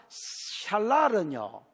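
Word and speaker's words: שָׁלָל: 그 다음에 살랄, 샬랄은요, 읽기는 샬랄이라고 읽어야 됩니다.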